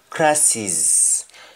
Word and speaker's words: crosses: jamaican crosses are problems and pronunciation for the word crosses in jamaica and we say crisis me fellow per impresses